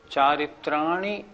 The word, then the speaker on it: चारित्राणि: कुछ लोग कैसे बोलते हैं, सम्यक दर्शन ज्ञान चारित्राणी मोक्ष मार्ग, ये गलत हो गया।